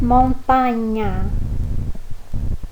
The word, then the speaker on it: montagna: Quando encontrarmos palavras com G seguida de N, A, N, I ou N, O, nós vamos ler com som de NH. Então, se você vê escrito lá montagna, você vai ler montanha.